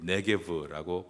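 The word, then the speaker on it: 네게브: 내게 올라가서 헤브론에 이르렀으니 아, 네개을 제가 네개부라고 읽는 이유는 또 성주순례 가면 다 여기에 지명을 듣게 되는데이 네개브라고 발음을 합니다.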